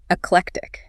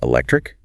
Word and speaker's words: eclectic: It's often mispronounced as electric.